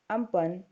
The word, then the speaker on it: Amphan: a very dangerous cyclone pronounced as Ampang which means sky the